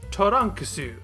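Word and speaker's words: トランクス: characters known as Katakana spoken aloud they are the sounds Toran kasu that's literally the character's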